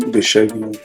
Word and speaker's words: Davian: How do you pronounce your first name? Davian. Davian. I knew I was missing a syllable in there.